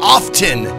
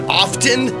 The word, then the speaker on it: often: I used to get all up in arms about often. About people pronouncing the T in often, because that's not the way it was originally supposed to be pronounced. The T is silent.